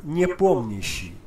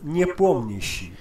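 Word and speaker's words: Nepomniachtchi: Jan Niepomniśi. That's how you do it. Jan Niepomniśi.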